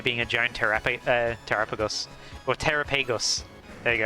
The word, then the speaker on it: Terapagos: I I always pronounce it as terapagos. Oh. Oh, I used to pronounce it as Terrapeagos and then people got mad at me cuz I said Terrapeagos and now I pronounce as Terrapagos and now I catch myself.